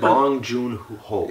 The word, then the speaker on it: Bong Joon-ho: And oh my god, so is it, how do you pronounce it? Bong Joon-ho.